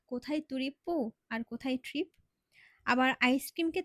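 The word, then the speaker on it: トリップ: ট্রিপকে তার জাপানিজরা বলে তুরিপ্পো। একবার চিন্তা করে দেখেন তো, কোথায় তুরিপ্পো আর কোথায় ট্রিপ?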